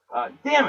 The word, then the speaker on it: damn: Damnit, the third silent N in our list. Damn it. Damnit. Okay, to spell it, you gotta say the silent N. Damnit. Look at the word damn, right? The word damn is D-A-M-N. Not D-A-M. Like a river dam, right?